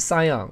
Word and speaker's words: Sion: 这个字他没念好，应该是 Sion 哈。